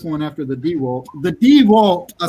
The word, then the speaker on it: DeWalt: The DeWalt, I said it right this time.